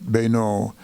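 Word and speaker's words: Beneault: The little newcomer's name is Everett Bayneau. That's spelled B-E-N-E-A-U-L-T.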